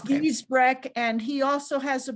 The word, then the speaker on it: Giesbrecht: Gaysbrick. Yes. I don't know. Yeah. Something like that. Okay. Dr. Popsicle. That's easier for me to pronounce. It's Giesbrecht, and he also has a program you can look up.